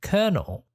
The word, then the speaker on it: colonel: it again can you say it again it's pronounced colonel it's pronounced colonel is the homework easy is